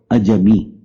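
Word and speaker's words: عجمی: بھی پڑھ سکتے ہیں، لیکن اس کا صحیح تلفظ ہے اجمی۔ اجم سے ہے لفظ،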